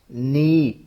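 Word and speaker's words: knee: नी, इसमें ये जो के है, स्टार्टिंग में जो वर्ड के लिखा हुआ है ये साइलेंट है, हमने इसको एन से स्टार्ट करना है, प्रोनाउंस करना, बोलना।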